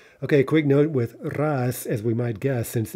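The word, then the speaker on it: рас: this particular example right not only do we pronounce it as an s but we change the spelling right so we get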